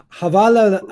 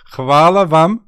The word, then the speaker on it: hvala vam: So it's it's like hvala vam što ste gledali. Okay. Havala. Say that again. Oh my God! It's hvala vam.